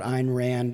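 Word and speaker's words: Ayn Rand: the question is about Ein Rand um as she said it's a rhymes with swine um she did have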